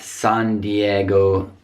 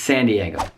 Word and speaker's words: San Diego: One more in California, San Diego, not San Diego, just San Diego.